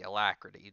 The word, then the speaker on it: Alacrity: can't pronounce anything um alacrity alacrity that's how you say it kill enemies a gain